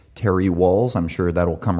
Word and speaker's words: Wahls: Google Ted X Terry walls I'm sure that will come right up again her last name is spelled w a LS not the uh not like running your head through brick walls moving right along next